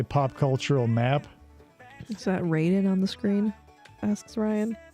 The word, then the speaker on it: Raiden: It's not pronounced Raiden. It's pronounced Raiden.